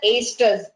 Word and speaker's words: estrus: Read it as estrus. Okay, this O is silent, estrus cycle.